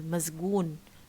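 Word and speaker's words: مسجون: When we say, for example, mazgoon, mazgoon, okay? So sa here is we pronounce it as za. Why? Because it comes between two voiced consonants, ma and ga, mazgoon.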